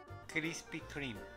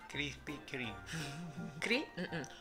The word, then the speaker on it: Krispy Kreme: Tienes que pronunciar la T. Walmart. Ajá. Walmart. No Walmart. Walmart. Krispy Kreme. ¿Otra vez? Krispy Kreme.